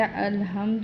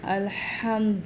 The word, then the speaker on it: الحمد: کو بتا دیتی ہوں۔ یہاں پہ الحمد نہیں پڑھنا، الحمد ورنہ مطلب بدل جائے گا۔ ہا حلق سے نکال کے پڑھنا ہے۔ للہ، یہ بھی اکثر